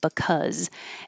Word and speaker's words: because: But when it's in this word, we say buh because the B is not stressed, buh, and cuz with an because.